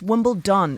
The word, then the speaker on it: Wimbledon: Y babe, it's Wimbledon. Wimbledon. It's not a T.